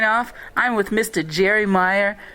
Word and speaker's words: Mayer: Yeah, so but even so, my great-grandfather or something came from Germany, and it was spelled M-A-Y-E-R, but pronounced Meyer.